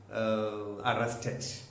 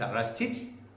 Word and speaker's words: arrested: When you see a word ending in T or D, and if it is added with ED, then you have to pronounce arrested. Wounded. Don't say wounded. Don't say arrested. It's arrested, wounded.